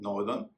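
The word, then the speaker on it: northern: वर्दी ना कि वर्थी इसी तरह नॉर्थ और साउथ इनमें जब ई आर एन लगाते हैं तो हो जाता है नॉर्दन और सदन ध्यान दीजिए एसओ यटी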